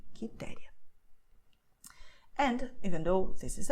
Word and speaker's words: Quitéria: The U is silent here, okay, QE, QI. So you have Carlos, Marcos, Custódio, Henrique, Quitéria.